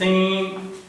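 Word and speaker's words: thing: जैसे हम कहते हैं थिंग, जो एंड में आईएनजी होता है उसको प्रोनाउंस नहीं किया जाता, वहां पे ये साउंड प्रोड्यूस होता है ई।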